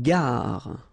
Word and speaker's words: gare: Une gare. Okay, remember when you get these G and A together, the sound is g, ga, ga. Une gare, final E not pronounced.